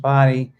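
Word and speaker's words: Bodie: the old keeper quarters yes there's the the body Island the lighthouse so it's it's spelled bod and it's pronounced body um it is open for climbing it opened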